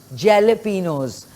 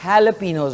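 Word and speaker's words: jalapeños: है जे एल ई जेलपिनोस तो जेलोपिनोस नहीं होगा हैलोपिनोस होगा जे जो है वो साइलेंट हो जाता है तो जे को नहीं आपने बोलना जेलोपिनो इट्स हेलोपिनो ना जी क्योंकि मैं जब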